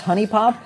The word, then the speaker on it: HuniePop: magic i don't care night lore says that it's pronounced honey pop this is i also say who i say huni um but i am corrected constantly that it's honey pop it's the english language